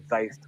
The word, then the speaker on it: Zeist: But the actual pronunciation is zeist, obviously.